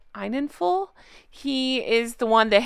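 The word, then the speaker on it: Enninful: I believe his name is pronounced Einenful.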